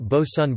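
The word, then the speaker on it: boatswain: petrels and tropic birds named bosun pronounced bosun birds by the inhabitants of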